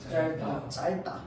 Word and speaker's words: 짧다: 자, 그래서 겹받침인데 얘는 우리가 짧다고 발음해, 작다고 발음해. 짧다.